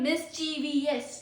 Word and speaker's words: mischievous: Pro tip, only 3 syllables, not 4. आप जिसे pronounce करते हो वैसे मत प्रोनाउंस कीजिए. आप कहते हैं ना mischievous, don't say it like that.